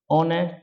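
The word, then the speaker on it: honest: इज ए ठीक है, ऑनेस्ट, अब ऑनेस्ट को हम ऑनेस्ट नहीं बल्कि ऑनेस्ट पढ़ते हैं, ओ से पढ़ते हैं, ऑनेस्ट, इसलिए जब भी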